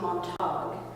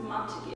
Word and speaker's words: Montague: This one guy, he was reading the prologue or something and said the House of Montague, and I was it's pronounced Montague.